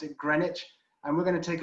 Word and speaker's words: Greenwich: On the right, you can see Greenwich, as it's spelled, but we pronounce it Greenwich.